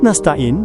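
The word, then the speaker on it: نستعين: Lafaz nastain dibaca fathah huruf nun yang ada pada permulaannya menurut qiraah semua ulama kecuali Yahya Ibnu Tsabit dan Al-Amas. Karena keduanya membacanya kasrah seperti yang dilakukan oleh Bani Asad, Bani Rabiah, dan Bani Tamim.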